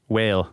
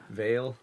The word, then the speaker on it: Weyl: Do you remember how he pronounced this? No, don't know. The mathematician would be Hermann Weyl, a German mathematician. So maybe that's not pronounced properly. But anyway, German mathematician. W would be Weyl. Veil? Yeah, maybe.